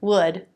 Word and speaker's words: would: These words all rhyme. The pronunciation is simpler than it looks. The L is silent. So they all have their beginning consonant, the as in book vowel, and the D sound. Should, would, could. They rhyme with good, hood, and wood.